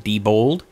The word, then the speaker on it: Diebold: Matthew dat you for clearing it up it's pronounced Diebold let's take one from our old friends friend